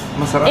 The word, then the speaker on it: masarap: Masarap. In Tagalog. Masarap.